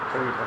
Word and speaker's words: Trevita: Is that how you pronounce it? Trevita.